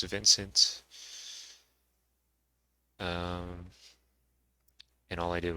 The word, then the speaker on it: Vnce: can probably tell it's vincent um and all i did was take out the eye and so we have vince without an i still pronounced the same way though so people most